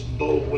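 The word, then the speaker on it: Boulware: Yeah, spell It's Bowler is how it Bowler.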